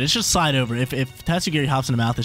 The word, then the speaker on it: Tatsugiri: That's how you pronounce it. Tatsugiri.